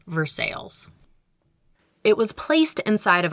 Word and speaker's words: Versailles: Township Shopping Center, which shares its name with the French city Versailles, but in Pittsburghese, we pronounce it Versailles.